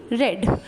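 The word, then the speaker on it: read: Second form हो जाएगी रेड। रीड की 3 फॉर्म्स होती हैं, रीड, रेड, रेड, ठीक है। तो स्पेलिंग सेम होती है, इसलिए आप रेड ही पढ़ रहे हैं उसे।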